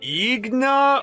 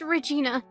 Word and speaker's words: Regina: How exactly do you pronounce that? Is it like Igna or, It's just Regina.